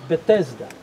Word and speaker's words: Bethesda: called the pools of BDA KDA righteousness you pronounce it betesda right so right here there were two pools